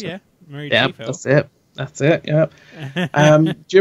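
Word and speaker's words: Mary Chieffo: I don't know if the Klingons are going to be mostly things from the flashbacks, but although Mary, I can't ever pronounce it. Mary Chiefo.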